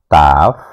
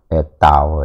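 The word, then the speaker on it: תו: Ini secara survei itu saya perhatikan huruf taf, tau ya, bukan taf ya, bacanya tau.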